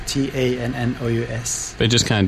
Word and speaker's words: Tannous: And it's pronounced. It's Tannous, Tannous.